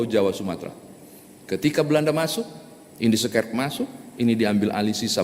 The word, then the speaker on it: Indische Kerk: Bapak Ibu pasti pernah mendengar Indische Kerk, gitu ya cara pengucapannya bahasa Belanda soalnya, Indische Kerk.